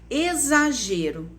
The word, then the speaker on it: exagero: do que de ch exagero também se escreve com x mas ela tem som de z então vocês vão escrever